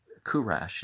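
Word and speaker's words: Kourosh: overcome by cyrus which in kurash is how you pronounce his name in persian but um well i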